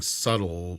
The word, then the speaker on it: subtle: that's the thing and it sounds like you're saying subtle with the bee you do it with some of the other words you say too but what is this is a subtle with a b it's actually more of the original form when you look at the um etymology of the word it's become more muted in modern day english but that's why i